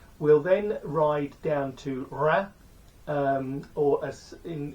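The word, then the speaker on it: Reims: then ride down to ra um or as in in England you might pronounce that as Reams but it's not pronounced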